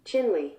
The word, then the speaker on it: Chinle: to go with china chinle it is sort of like the country chile almost not quite oh here we go another shortish word ending in e and if chinle is anything to go